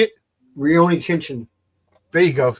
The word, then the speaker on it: Rurouni Kenshin: I'm not even going to begin to pronounce these. Is my favorite. What? How do you say it? Rurouni Kenshin.